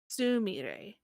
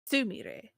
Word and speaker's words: Sumire: Anyways, She was an actress, and her name was Sumire, not Sumire.